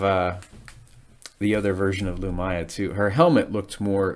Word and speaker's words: Lumiya: so it's pretty cool i guess you can pronounce it lumia too it's l-u-m-i-y-a i've got two different versions of the legacy of the four series both unabridged and abridged and mark thompson he's he pronounces her name lumaya which i i tend